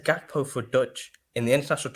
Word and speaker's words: Gakpo: I mean, we should actually say his name properly. It's GAKPO. Oh my god. The G is actually H for people that don't know. So it's GAKPO.